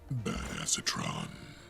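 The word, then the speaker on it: Badassatron: Uh, you can call me or Bad Acetatron. It's a nickname some of the guys gave me. I don't know. I didn't give it to myself or anything. Actually, it's pronounced badassetron.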